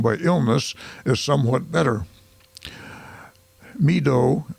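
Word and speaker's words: Meedoe: Meadow, it's spelled M-E-E-D-O-E, Meadow Canton has purchased a strip of land from Mr.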